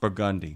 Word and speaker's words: Burgundy: that makes perfect sense because if you were French, you would say Burgundi and if you were French, you would say Caliop.